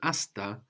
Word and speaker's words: hasta: And this hata is actually related to hasta in Spanish, like hasta luego, which is pretty well-known saying, hasta luego, which is spelled with a silent H, no, in Spanish, actually coming from Arabic, hatta.